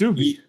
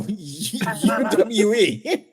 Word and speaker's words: Uwe: It's Uwe. No, it's pronounced U. It's a W, and he's German.